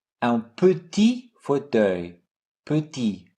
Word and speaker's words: petit: Un petit fauteuil, petit, silent T.